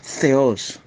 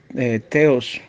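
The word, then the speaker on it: θεός: Ahora vamos a analizar la palabra griega Theos. Algunos la pronuncian Theos. Está mal pronunciada. La pronunciación correcta es Theos.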